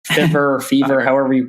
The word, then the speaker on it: Fiverr: I mean, it seems like a lot of like freelance type websites are really taking off, like Fiverr or Fever, however you pronounce it.